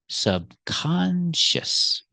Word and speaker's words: subconscious: this word subconscious so we're going to keep the stress on the second syllable subconscious the word subconscious can be